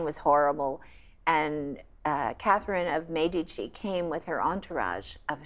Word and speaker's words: Medici: So in France, I was fascinated to see that Caterina de' Medici, actually it's pronounced Medici. My Italian professor told me it's not Medici, it's Medici.